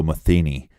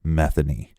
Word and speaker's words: Metheny: look up some reports they will say Joe Matheny but it's actually Joe Metheny yeah we got that from local Baltimore reports